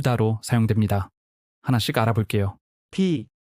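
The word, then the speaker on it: พี่: B. B와 비슷하게 발음하되 올라가는 억양으로 당신보다 나이가 많지만 같은 세대의 사람과 대화할 때 사용합니다.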